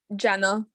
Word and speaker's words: Jenna: um commissioner mccormick yes i just wanted to correct the pronunciation of my name oh i please do